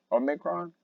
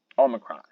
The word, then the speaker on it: Omicron: So the number one reason why the stock market is selling off is Omicron. Omicron, Omicron. That's how you say it.